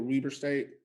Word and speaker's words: Weber State: don't know him okay this guy played at weber state university am i saying it right with weber state that's correct yeah i know it's it's a